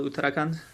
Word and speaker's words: Uttarakhand: The city's name is Dehradun, and the state is called Uttarakhand.